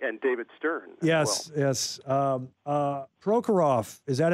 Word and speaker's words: Prokhorov: Prokhorov, is that how it's pronounced, the owner?